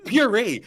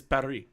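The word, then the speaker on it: Purr-ee: I pronounced it as Paris. No, it's puree.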